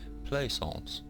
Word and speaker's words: Plaisance: my name is Plaisance okay that's how you pronounce that Plaisance and okay and please take responsibility for the